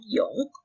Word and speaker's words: yong: The sound is the combination of the first half part of U and the last part of song. So it will be yong.